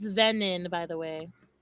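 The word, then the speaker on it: venin: It's venon by the way.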